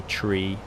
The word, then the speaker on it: three: they are supposed to another one is four you're supposed to pronounce it four things like this three you say tree and the reason is